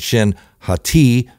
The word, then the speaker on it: Shin Hati: way surprise surprise thrawn sends Baylen skull and shin hati as it's pronounced after Sabine to destroy both of them